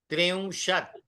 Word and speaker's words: त्रिंशत्: विंशतिः, हाँ विंशतिः, विंशतिः, त्रिंशत्, त्रिंशत्, ऊपर बिंदी आती है तो थोड़ा अनुनासिक करना है, त्रिंशत्, चत्वारिंशत्, चत्वारिंशत्, पंचाशत्,